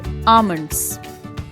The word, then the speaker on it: almonds: When you pronounce almonds, then we have to take care that L is silent in this and thus pronunciation of this word will be almonds.